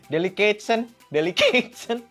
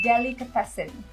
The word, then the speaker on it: delicatessen: Dulu ya Put, waktu siaran radio, gue pernah tuh so-soan, iya, delicatesen, gitu Bu. Terus ketawain sama partner gue, lu so-soan deh, bacanya tuh bukan itu, katanya bukan delicatesen, tapi Delicatessen. delicatessen.